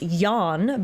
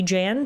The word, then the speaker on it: Jan: Um, apparently his name is pronounced Yan, but they didn't pronounce